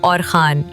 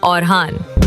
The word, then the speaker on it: اورحان: تاریخ کی کتابوں میں کہیں ان کو اورخان لکھا گیا ہے، لیکن ترکی والے اصل میں کہتے ہیں اورحان۔ اب ذرا یہ حقیقت سن کے چونک جائیے، ترکی میں خا کی آواز ہے ہی نہیں، وہ خان نہیں بول سکتے، بس کہتے ہیں ہان۔ اب آتے ہیں ہم برصغیر والوں کی طرف۔ ہماری عادت عجیب ہے، اورحان کو بدل کے اوہان بنا دیتے ہیں، نہ را باقی رہتا ہے اور نہ ہا۔ اب سوچیں، اگر کوئی